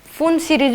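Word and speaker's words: Pfund: ये क्या है, बोर के स्टूडेंट है, Lyman, Balmer, Paschen, bracket, P फंड। ठीक है, तो यहाँ पे इसको फुंड सीरीज भी बोलते हैं, मतलब पी साइलेंट होता है।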